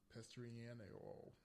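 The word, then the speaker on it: Pestriniero: It was based on the short novel A Notte de 21 Orc, One Night of 21 Hours, by the sci-fi writer Renato Pestriano.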